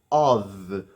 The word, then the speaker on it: of: fosse fazer algum sentido, O FF em inglês é pronunciado literalmente com som de f, of. Já o of é pronunciado com som de v. Ov, of.